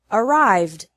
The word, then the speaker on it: arrived: developed finally e d is pronounced like d with no extra syllable in all other verbs so the past tense of the verb arrive which has two syllables is arrived which also has two